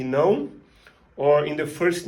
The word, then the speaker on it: não: You will find in words like yes and no, sim e não, or in the first name, Joaum, which is one of the most popular names in Brazil and in Portugal.